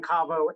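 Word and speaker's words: Kavo: Saying Cavo and saying Cavo are correct. One is the European pronunciation, where it's Kaltenbeck and Voigt. I don't even pronounce it correctly. And here in the US, we say Cavo.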